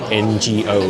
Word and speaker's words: 我: Seeing it in print in the comments that they spell it NGO, ngo, and ngap, ngap. It took me seeing it written in English to realize that that was the correct way of saying it.